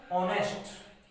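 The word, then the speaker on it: honest: लेकिन जब हम इसका उच्चारण करेंगे, जब इस स्पेलिंग को हम बोलेंगे, तो इसका उच्चारण क्या आता है, ऑनेस्ट।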